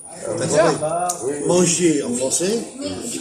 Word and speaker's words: manger: Eh bien, manger, ça c'est qu'il n'y a pas de R. Il y a le R écrit, mais ça ne s'entend pas. Manger en français, on ne dit pas manger.